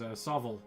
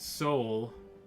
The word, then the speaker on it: SOVL: This is SOVL. S-O-V-L. Some people pronounce it Soul. Those people are lame.